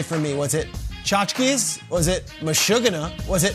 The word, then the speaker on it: tchotchkes: T is silent. Tchotchkes. So like chotch, Chotch. but with keys.